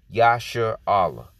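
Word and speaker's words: ישראל: or he prints power yasha allah okay which is how you say israel in the hebrew okay in the paleo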